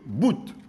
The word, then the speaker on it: bout: les lettres se prononcent je vous donne un exemple en français on dit Bou un bou tandis qu'en créole on va dire bout la lettre T prononcée on dira tout en